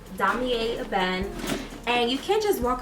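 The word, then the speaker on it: Damier Ébène: So I needed to know that it's pronounced damier eben, and that's the brown checker pattern. Let me show you. Yeah, so I needed to know that this pattern is called damier eben, and you can't just walk up in there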